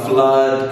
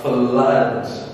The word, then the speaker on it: flood: It's a flood. Good job. Flood. Stick this one on top here. Alrighty, so we do start it with OO, but we pronounce it very different. Listen close. Flood.